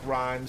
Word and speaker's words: Rime: It might be Rim Stealer. I think it's pronounced Rhyme Stealer. Yeah, it's spelled R-I-M-E. I think it's actually pronounced rhyme.